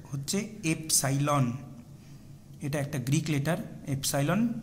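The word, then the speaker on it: epsilon: এটার উচ্চারণ হচ্ছে এফসাইলন।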